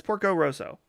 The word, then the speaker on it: Porco Rosso: Is it Porco Rosso? I always feel like I'm saying the name wrong. Porco Rosso. Yeah, it's Porco Rosso.